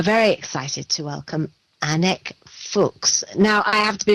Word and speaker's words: Fuchs: I generally pronounce it Fuchs, but I hear everything.